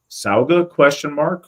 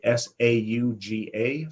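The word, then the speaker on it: Sága: Chris says, Sauga ? With a Sauga.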